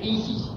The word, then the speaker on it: Isis: de los misterios cho que se pronuncia Isis en dos se reparte en dos sílabas y así se pronuncia el mantra Isis la s es como